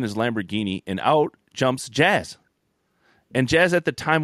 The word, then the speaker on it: Jazz: Jazz? I just call him Jazz. It's Jazz, exactly.